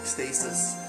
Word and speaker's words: Ecstasis: I mentioned Ecstasis, that's how it's said, Ecstasis.